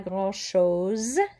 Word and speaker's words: grand-chose: Pas grand-chose. Make sure you have that Z sound.